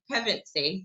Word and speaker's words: Pevensie: is the guitarist who actually started the band pregnancy did i say it right hey you got